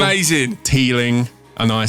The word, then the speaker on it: Teeling: I only spelt it out because you pronounced it Teelin. Right? You dropped the G off the end of it with your native London tongue.